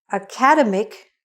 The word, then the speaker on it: academic: The stress is on the middle.